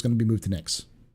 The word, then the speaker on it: Nyx: it came back so what's nix nyx is the next system after pyro and it's spelled nyx um it's a another